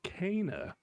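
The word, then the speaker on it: Kena: Per in game, it's pronounced Kana. Oh, Kana. It's not Kenna.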